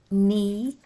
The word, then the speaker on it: knee: an owl Alba me a silent k n e e a longest sound silent k neck the CK when